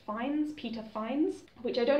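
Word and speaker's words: Fiennes: I'm reliably informed that his name is pronounced finds Peter finds which I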